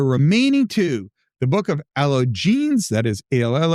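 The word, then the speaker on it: Allogenes: The remaining two, the book of alo jeans, that is al loll o ge n-es, that's Greek for the stranger, and the gospel of Judas had never previously been discovered.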